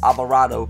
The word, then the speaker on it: Alvarado: It's pronounced avocado, Alvarado.